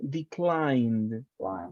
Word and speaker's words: declined: Remember, it's a D sound, declined.